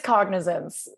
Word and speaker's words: Cognizance: I'm not going to sit here and butcher the name of this. It's Cognizance.